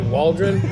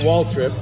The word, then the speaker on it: Waldron: I usually pronounce it Wally Waldron, not Waltrip.